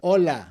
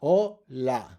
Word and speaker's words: hola: That's just a fact, like hola. O la, right? That's two syllables. O, that's where the stress is. We end in a vowel, o la.